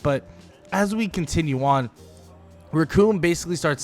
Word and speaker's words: Recoome: Because the name's Recoome, and it rhymes with doom, and you're gonna be hurting all too soon!